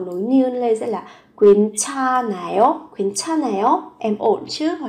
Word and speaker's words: 괜찮아요: 괜찮아요?